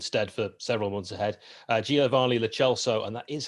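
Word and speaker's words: Giovani Lo Celso: in pretty good stead for several months ahead giovanni lechelso and that is how you pronounce it the 24 year old are currently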